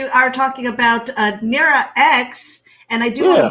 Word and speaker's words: X: an x it's just it's just an x it's it's pronounced x yeah i'm not like